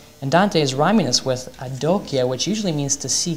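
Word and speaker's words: adocchia: out that the italian this look that dante says to virgil is adokia which rhymes with janokya the knees he's making a rhyme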